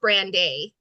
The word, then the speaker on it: Brandei: It It's pronounced Brandeise because, you know, is it Brandeise?